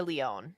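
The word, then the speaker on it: Lyonne: out yeah I I love me some Natasha Leone that's how you pronounce her last name right yes yes I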